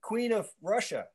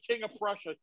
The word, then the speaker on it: King of Prussia: were you doing in queen of russia oh stop saying it say it right king of prussia even rl knows it's